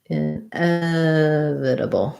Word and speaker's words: inevitable: also asked about inevitable so inevitable stress on the f syllable light and short on your in in f this t is more like a d a flat this a b l e by itself able at the ends of words uh bull inevitable inevitable um yeah definitely for